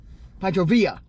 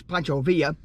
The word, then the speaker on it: Pancho Villa: had the pancho villa pachovia i keep saying it wrong yes you did it's spelled villa but it's pancho villa okay let's see what's